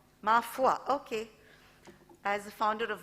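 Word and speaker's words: Ma Foi: founder of mafoy management consultants i hope i pronounced that right mafoy mafua okay as a founder of mafua management consultants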